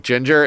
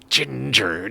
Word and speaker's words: Jinjer: No, it's not spelled ginger like ginger. It's spelled ginger like Jinjer.